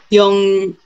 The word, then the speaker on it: 용량: 그런데 제품을 받아보니까 용량, 용용, 영이 아니고 용. 용량이 달랐어요. 용량이에요. 용량, 발음은 용량. 용량이 달랐어요.